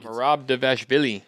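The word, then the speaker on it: Merab Dvalishvili: You think Marab Devashvili.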